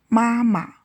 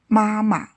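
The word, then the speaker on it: 妈妈: Wo can mean both I and me in writing and pronunciation. Wo u wo wo Mama mom or mother mama As a reduplicated kinship term, the second syllable should be pronounced the light and short. Mama m o a ma mama Ta he or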